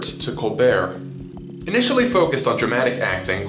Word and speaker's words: Colbert: to Northwestern University theater program and changed the pronunciation of his last name from Colbert to colar initially focused on dramatic acting colar became interested